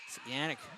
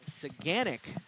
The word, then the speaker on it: Saganic: for Goodrich Goodrich Waits satanic holds on to it and 1408 remaining in the second one another Face-Off to the left uh apologize it is saganic is the pronunciation of that goaltender's name I just had to